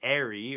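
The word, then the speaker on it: Aerie: on sour 7x7 again as in an eagle's nest a nary a ye are ie not as in the Abercrombie & Fitch brand or whatever it is anyway so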